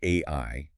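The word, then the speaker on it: 愛: The sources point out that the Japanese kanji for love, which is pronounced AI, is written with exactly 13 strokes of the brush.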